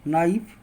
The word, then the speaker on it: knife: जैसे night, need, नी, नील, नो, नाइफ, नॉट। एन के पहले अगर के आ जाए तो वहाँ पे के का उच्चारण नहीं होगा।